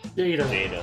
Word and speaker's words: Jada: Jada. It's Jada, as in like Jada Pinkett Smith.